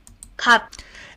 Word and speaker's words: 갑: that again cup cop cup cop and you'll notice that that sounds more like cop like with the k and the uh Korean pronunciation of uh is a correct Korean pronunciation.